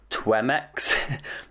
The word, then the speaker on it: Twemex: And there is a Chrome extension for Twitter called Twemex. I can spell it.